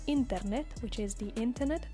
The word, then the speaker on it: internet: have L internet L internet which is the internet the only difference is in the pronunciation L internet so the accent Falls here internet then we have El